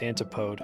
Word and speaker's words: Antipode: how do you pronounce is it intipity or is it and I always said antipode as a kid oh my God it's antipode I was right antipode okay you've ever